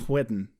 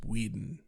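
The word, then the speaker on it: Whedon: enough in this with you pronouncing your ages whiten it's Weeden Wen Weeden say cool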